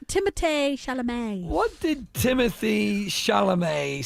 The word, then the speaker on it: Timothée Chalamet: What did Timothy Chimley? What did Timothy Chalamet? It's pronounced Timothée Chalamet.